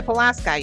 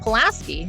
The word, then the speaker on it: Pulaski: Why Pulaski, you ask, even though it's spelled with an I? Because our wonderful friends, the Tereses, said so, and they are locals. If you call it Pulaski, they'll know you're not a local.